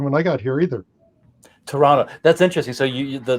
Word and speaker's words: Toronto: i got here either toronto that's interesting so you the the second t is silent such like in the